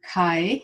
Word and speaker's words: Kai: In the meantime, Kai is clarifying, it's like sky.